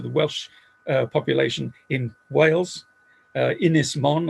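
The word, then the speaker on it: Ynys Môn: Ynys Mon, I'll give it the Welsh pronunciation as part of my apology.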